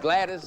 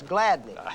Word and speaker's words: Gladney: Mr. Gladys Doris. I believe he pronounces it Doris Gladney.